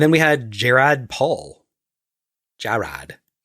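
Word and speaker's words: Jarrad: Jared. J A R R A D. How do you say that name? Jared, that's a stupid way to write it. Jared.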